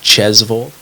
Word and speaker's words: Tjosvold: looks right uh so last name is spelled t-j-o-s-v-o-l-d but it's pronounced jezevil uh and that's also